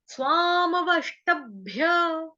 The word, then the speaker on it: स्वामवष्टभ्य: प्रकृतिम, प्रकृतिम, प्रकृतिम स्वामवष्टभ्य, प्रकृतिम स्वामवष्टभ्य, व के ऊपर आघात आएगा आधे षटकोण वाले श का, वश, ट, ट के ऊपर आघात आएगा बकरी वाले आधे ब का, टब, भ्य, उसके बाद भ भालू वाला आधा है, और उसके बाद है य यज्ञ वाला।